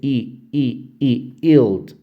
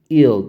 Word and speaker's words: yield: yield도 역시 yield. 요 발음이 yield가 아니라 요 y 발음이 이제 yield, yield 이렇게 발음하거든요. 조금 우리말에 없는 발음이에요.